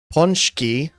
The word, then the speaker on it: pączki: Pączki makowiec wiec sernik Mm, only last one you mispronounced.